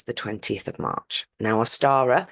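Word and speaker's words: Ostara: 20th of March now aara spelled o s t a r a very similar to Easter and that is the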